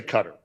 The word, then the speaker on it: Qatar: things got really bad Cutter c i I'll say cutter okay and and by the way cutter people don't really can care how you pronounce it they just like that